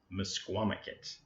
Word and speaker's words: Misquamicut: pronounce that and when we finally got the pronunciation it was Misquamicut and it was so funny and we were